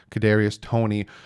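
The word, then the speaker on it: Kadarius Toney: me make sure i say his name right cadarius tony ybc from florida he's six foot tall 193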